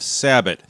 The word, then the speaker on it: sabot: So, and now we have sabbat similar to rabbit. Premier Acutip bonded sabo slugs.